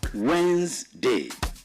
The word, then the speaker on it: Wednesday: The way you pronounce it is like you want to spell W-E-Z, then day. That's the proper pronunciation. W-E-N-Z, then day, which is Wednesday.